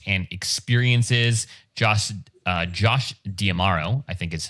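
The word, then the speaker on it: D'Amaro: Josh, uh, Josh Diamaro, I think is how you say his name, or Domero, uh, Diamaro.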